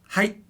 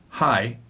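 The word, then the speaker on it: はい: to say height yes height it's not high it's very abrupt ending height now what if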